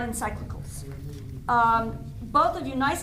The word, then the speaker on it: encyclical: very good um the the pronunciation should you ever need this is encyclicals encyclical I mean it's not